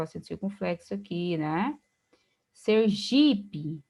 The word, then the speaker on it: Sergipe: Sergipe, Sergipe. Observe que o G é a sílaba tônica mesmo, mas é uma paroxítona terminada em E, e por regra, a paroxítona terminada em E não é acentuada.